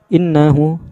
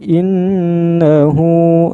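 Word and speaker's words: إِنَّهُ: Inna ya, inna panjang sampai 3 harokat panjangnya itu ya, jangan langsung innahu, jangan begitu, tapi innahu. Hu juga ini panjang 2 harokat nih.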